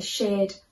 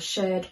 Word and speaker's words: shirred: now this dress has a shared bodice or a shirt bodice depending on how you say it i've put some tie